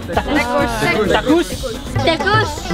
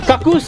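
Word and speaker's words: takuss: Not to be mistaken with takus kuk. We have a Tamil word called kakus. Kakus in India is latrine, like going to the toilet. So it's not kakus, it's takus.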